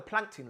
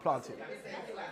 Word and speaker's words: plankton: But then you have the plankton level. Did I say it right? Plankton. All right. No, not planting. That's what they were saying to me at home. They were like, Dad, are you saying planting?